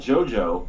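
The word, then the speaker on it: JoJo: I'm resuming yeah it spell it spell it like GI Joe but it's so so so pronounced that's like so weird it's like one of the biggest stretches I've seen for a jet for Joe Joe name honestly I mean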